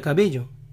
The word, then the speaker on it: Cabello: camila camila camila y cómo sería entonces camila cabello camila cabello que mi cabello en vázquez pronuncian la uv vásquez vásquez en la ciudad